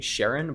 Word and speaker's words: Charon: I always thought it was pronounced Karen as well. It's technically Sharon, but yeah, that's correct.